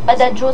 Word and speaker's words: Badajoz: Je prononce Badajoz, ça fait plus espagnol, ça fait plus cool.